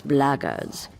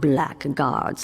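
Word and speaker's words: Blackguards: another one of those bloggers and that's the way to pronounce it not black guards like that thug insisted it was then my answer is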